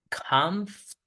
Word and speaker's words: comfortable: Entonces vamos a decir comfortable. Comfortable. Comfortable. O sea, totalmente, como puede por el sonido schwa, desaparece for. No dices confort.